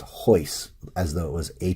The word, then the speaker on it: Royce: look at as an age so it's actually pronounced hoist as though it was a chai yce it's